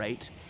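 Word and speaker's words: eyot: There's an 8 behind me, an 8 meaning a river in the Thames, and only in the Thames, pronounced just like the number 8. So it can be spelled E-Y-O-T or A-I-T.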